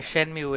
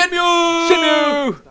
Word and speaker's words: Shenmue: so excited about it, Shenmue! most people pronounce it Shenmue, but Shenmue. we got used Shamu. to Shenmue, so whatever. It sounds like the big whale Shamu.